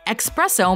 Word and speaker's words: espresso: or simply an espresso to expresso may also be drawn from the word Express which means fast and for you only both terms that can be applied to the preparation of the beverage it does almost sound a little better with an X undoubtedly you'll be understood whichever way you say it but this must